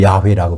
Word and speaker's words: 여호와: 여호와, 또 야훼라고 발음할 수 있는 그 이름의 뜻은 예레미야서 33장 2절에, 그죠?